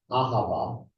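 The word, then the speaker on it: אהבה: The first one in Hebrew is ahava. Say ahava. Ahava. Not ahava. Ahava. No. Ahava. All 3 syllables are surest.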